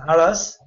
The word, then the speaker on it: Aras: It's pronounced as Aras.